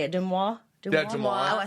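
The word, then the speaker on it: DeuxMoi: Yeah, Demois.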